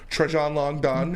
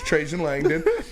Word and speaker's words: Trajan Langdon: It's not Trajan Langdon. It's Trajan Langdon.